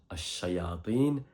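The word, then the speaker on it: الشياطين: Je rappelle que ça se prononce Ash-Shayatin, et il est répété comme Al-Malaika 68 fois.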